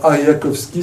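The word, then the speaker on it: Arjakovsky: Alors, Ariakowski, ça s'écrit A-R-J-A-K-O-V-S-K-Y.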